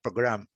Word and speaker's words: program: E a sílaba forte é a segunda, program. Então, existe a adição de mais uma vogal.